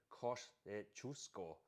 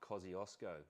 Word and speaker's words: Kościuszko: Um he he he my um pronunciation for your Aussie audience, Poles say Kościuszko. Not Kosciuszko.